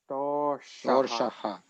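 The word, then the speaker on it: दोषाः: Doshaha. Okay, so the one sha where you hit the roof of the tongue, roof of the mouth.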